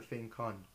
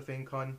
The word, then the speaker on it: FangCun: and today I'm going to be reviewing the F con a quick note about the pronunciation it's actually pronounced fun which is an area in guangong China but